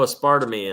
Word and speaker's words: aspartame: And there's no aspartame in it. There's no aspartame, however you want to pronounce it. You know, gummies are usually full of, how is the right way to pronounce that anyway, Brian? Aspartame.